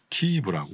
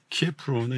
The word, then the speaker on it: 키이브: 그래서 저도 보니까 부모님이 부모님과 여동생 조카가 키이브라고 네. 키예프로는 이제 소련 네. 발음이고 그래서 거기에 사는데 안전한 상대적으로 안전한 외곽에 친구분 댁 지하실로 피했다고 그러더라고.